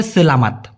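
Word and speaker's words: selamat: সঠিক উচ্চারণটা হবে সেলামাত। সেলামাত।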